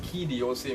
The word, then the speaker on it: Quai d'Orsay: on a collaboration and that was how the key d'Orsay was born now if you're wondering what key do se means and by the way that's how it's pronounced if you're wondering what it means as